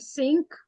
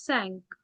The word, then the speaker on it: cinq: Not sink, it is sank.